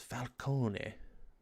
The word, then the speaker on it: Falcone: You pronounce the E on a Italian like that. It's Falcone.